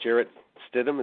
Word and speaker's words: Jarrett Stidham: I expect him to be, is it Jarrett Stidham? Is that how you pronounce his name?